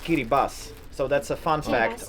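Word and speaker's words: Kiribati: scary bus it's actually written kirti but it's pronounced Kiri Bas so that's a fun fact only the strange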